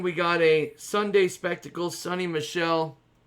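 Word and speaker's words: Sony Michel: got a sunday spectacle sunny michelle that's how you say it 50 of 50 for the patriots sonny michael or sonny michelle we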